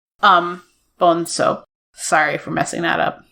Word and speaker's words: Bonzo: Because they said it's Portuguese, so it's pronounced like an S. Bonzo.